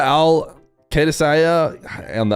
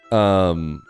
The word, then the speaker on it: Al-Qadsia: What do you think of the Al Qaedasaya? I'll never say it right. I think you might have misspelled it though, in my defense. I think you added extra I's in there. Yeah, you did. Al-Qadsia.